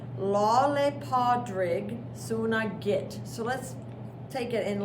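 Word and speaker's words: Lá Fhéile Pádraig Sona Duit: This is Irish, and Irish is really its own language, and so it doesn't even get pronounced the way that it looks.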